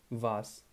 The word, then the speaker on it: was: is the subject here the W word is was uh the pronunciation is a little bit different than the English was so we say I was there he was there she was there the German is vas okay so you can